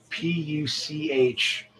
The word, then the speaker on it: Puch: And they got me a PUCH, I guess it's pronounced puck, moped.